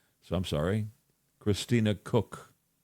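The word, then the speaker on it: Koch: from Canada, and Christina Cotch, Ko C, which her family pronounces Cook. So, I'm sorry, Christina Cook, spelled K O C H.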